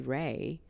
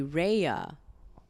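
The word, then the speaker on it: Rhea: for the first time lady Ray Ray Reina right like lady right lady Ray but they didn't say it like lady Raya okay lady Raya that's her name and we're watching their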